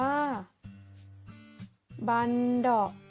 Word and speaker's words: บัณเฑาะก์: นั้น เอง นะ คะ บัณเฑาะก์ อ่าน ว่า บัณเฑาะว์ อา บัณเฑาะก์ คือ กลอง